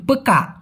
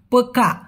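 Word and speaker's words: pekak: কাক না এতটা কর্কশভাবে মালয়েশিয়ানরা বলে না বিধায় মনে হয় কি লাস্টের কটা উচ্চারণ করে না তো পক্কা পক্কা কটে কতে গিয়ে একটা ধাক্কা দিবেন ক এভাবে উচ্চারণ না করে একটা ধাক্কা দিবেন পক্কা পক্কা এরকম হবে ল্যাংড়া ল্যাংড়া হচ্ছে চাচাত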